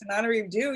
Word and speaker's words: Tananarive Due: And it's Tananarive Due.